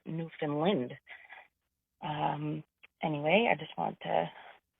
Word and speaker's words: Newfoundland: I don't think anybody actually says Newfoundland, but definitely here on the Atlantic coast, we would pronounce it Newfoundland or Newfoundland.